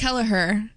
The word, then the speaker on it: Kelliher: And Miss Lily Kelliher. Whoa. Oh, no, I totally did just make up those names. Yeah. It's Lily Bump and Olivia Kelliher. It's Kelliher.